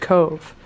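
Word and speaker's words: Cobh: sound so it's about c-o-b-h but it's pronounced cove and oh my gosh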